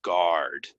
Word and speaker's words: guard: guard r r r guard guard it's like this U is kind of silent silent guard engine engine it goes